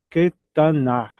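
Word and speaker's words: קטנה: Katan é o pequeno. Aqui reduziu para que, para Shevá, Ketaná. Ketaná.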